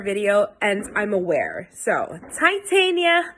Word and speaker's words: Titania: new these are Viola Tatiana hi guys just me editing here I say a shade name wrong throughout the entire video it's not Tatiana it's Titania so see this as